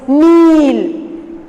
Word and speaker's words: kneel: Then next one, number 2 is kneel. K is silent there.